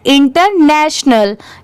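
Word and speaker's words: international: में प्रोनाउंस करते हैं इंटरनेशनल यहां पर अल की साउंड नहीं आती नल की साउंड आती है लास्ट में टी आई ओ को स बना दिया गया है साथ में कैसे पढ़ेंगे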